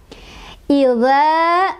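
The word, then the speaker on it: إِذَا: Idza, dza, di sana ada mad thobii lagi. Sebabnya karena ada alif, ada huruf mad, ya, sebelumnya didahului oleh huruf yang berharokat fathah, yaitu zalnya berharokat fathah, ya. Jadi, cara bacanya adalah dipanjangkan 2 ketukan.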